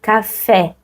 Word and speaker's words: café: Vous voyez les mots ici, en portugais, on a les mêmes mots en français, mais on va pas prononcer café, on va prononcer café. Vous voyez? Café, c'est plus ouvert.